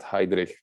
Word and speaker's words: Heydrich: his name was reinhardt heydrich heydrich you can pronounce so reinhardt heidrich and he was the third highest nazi in